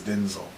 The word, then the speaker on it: Denzel: We say it wrong, but it's Denzel.